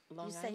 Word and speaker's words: Long Island: Do you know how to say Long Island? Long you Island. Say it? Long you say Island. It. You have to say it like that. Long Island. Long Island? Yes. Long Island, okay. Yeah. That's the way you say Long Island because. Okay. It's like a Long Island thing.